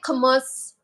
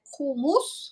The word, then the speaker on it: kumis: um, yeah, we say it kumis, but in Kyrgyzstan they say it like kumus, like that, like Mm. little different pronunciation.